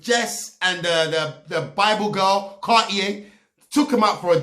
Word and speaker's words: Cartier: Are you telling me you don't know how to pronounce Cartier? It's actually a very famous brand. Cartier.